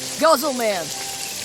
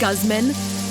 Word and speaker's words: Guzman: here like more medicine hey guzzle man what time is it it's pronounced Guzman and it's time for